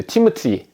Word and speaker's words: 티모티: 이 디모데를 우리는 디모데라고 발음하지만 영어식으로는 이제 티모티 이렇게 발음을 하는데요.